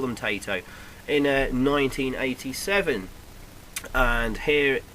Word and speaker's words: Taito: How do you pronounce it? Taito. I always call them Taito.